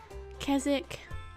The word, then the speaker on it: Keswick: but in the UK, a lot of the places that have wick, like Killick and Keswick, with the wick part usually meaning farm or settlement. You don't pronounce the wick, so I don't know.